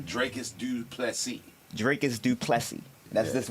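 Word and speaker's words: Dricus du Plessis: Dracus Duplessis.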